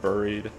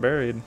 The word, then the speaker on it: Buried: We are in Buried. That's right, Buried. Because it's spelled with a UR, so it should be Buried, not Buried.